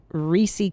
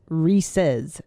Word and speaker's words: Reese's: Well, I still stand by my pronunciation. It's Reesei Cups, but it's Reese's.